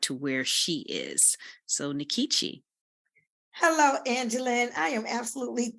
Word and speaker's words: Nkechi: I thought it said Nkechi. Well, much to my chagrin, I find out years later that it's not pronounced Nkechi, it's pronounced Nkechi.